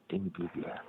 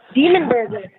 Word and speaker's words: Dimmu Borgir: Dimmu Borgir. Demon Burger. Demon Burger. I always say that name wrong.